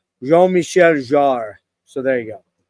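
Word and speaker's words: Jean-Michel: man je Michelle J actually it's from a Frenchman it's prod it's pronounced je Michelle are so there you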